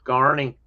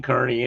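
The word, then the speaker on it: Kearney: I know you're going to and I and I corrected Carney. I didn't mean Kernney anyway. I knew better than that one.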